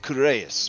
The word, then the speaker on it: Karius: two to uh to karius that one's already empty it's pronounced courageous but uh that's fine my